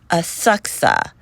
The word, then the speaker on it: Asakusa: on our way to aaka but I think it's spelled asakusa a a k USA but um from what I hear some people call it aaka oh you know what